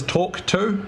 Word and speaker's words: Tawk.to: The next thing is Tawk.to, which is spelled kind of funny, TAWK.to.